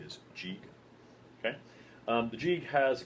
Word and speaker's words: Gigue: That is how you pronounce it, by the way. G-I-G-U-E is Gigue.